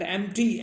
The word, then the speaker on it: empty: All right, तो इसको करो एम्प्टी, देखो P silent, एम्प्टी, एम्प्टी, EMPTY, एम्प्टी, एम्प्टी और vacant, we कैन से VACANT, vacant, हाँ एम्प्टी या वेकेंट।